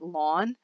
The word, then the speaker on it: ln: I do Ln and I sometimes pronounced that lon or I said Ln the natural logarithm and on your